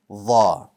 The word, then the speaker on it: ظ: Let's talk about Dha for a moment now. The letter Dha is also bold, just like Ta. So the back of your tongue rises. It too has no air.